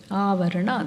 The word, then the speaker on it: Avarana: Avarana, that's how it should be pronounced.